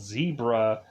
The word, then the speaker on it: Xybria: this alien place called Zebra, and really, like, to me, I'm like, it's not spelled the same, but it's like the animal, and I just thought